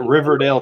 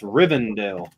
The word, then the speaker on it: Rivendell: No, he calls it Riverdale too. It's Rivendell.